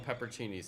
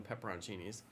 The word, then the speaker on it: pepperoncini: do pineapple pepperoni pepperoncini some people call them peppercinis I pronounce the I pronounce all the letters so I call them pepperoncinis now some people call